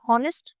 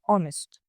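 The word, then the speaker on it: honest: अब स्पेलिंग होती है एच ओ एन ई एस टी लेकिन हम इसे हॉनेस्ट जो है वह प्रोनाउंस नहीं करते। हम इसे प्रोनाउंस करते हैं ऑनेस्ट। राइट? तो एच जो है वो हो गया साइलेंट।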